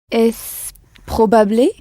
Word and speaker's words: probable: Le R est roulé. Probable. Pour prononcer le R espagnol, qui est un R roulé, il faut faire vibrer la pointe de la langue entre les dents.